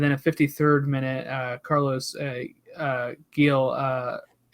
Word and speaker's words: Gil: a 53rd minute Carlos Gil, I guess you pronounce it with the H, right?